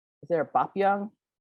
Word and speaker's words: Young: And I'm like, it's Bo, as in Bo Derek and Bo Jackson. It's Young, like youth, and like Robert E.